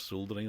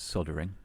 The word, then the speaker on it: soldering: a small bit of soldering on okay just two points there um you're saying it wrong it's soldering clearly that's you know